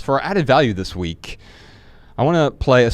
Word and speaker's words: VVE: So, Ryan, this is the second time we've worked with We. They did it again. It's spelled VVE.